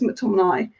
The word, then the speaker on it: McTominay: his name was it tommy nay or mctominay i feel like it's mctominay good lineup especially the